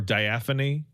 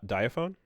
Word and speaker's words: Daphne: this um I'm watching um Diffany uh play it right now or Daphany. Uh Daphne. Oh, right.